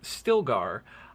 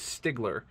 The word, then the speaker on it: Stilgar: There's a character in the book named Stilgar. I guess I just read it too fast and always read it as Stigler.